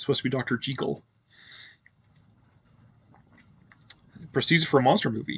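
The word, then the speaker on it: Jekyll: and I keep bouncing back and forth in pronunciations it actually is Dr J not Jackal but everybody knows it is Dr Jackal so um but yeah it's a Scottish name so it's supposed to be Dr jle presed for a monster movie yeah well I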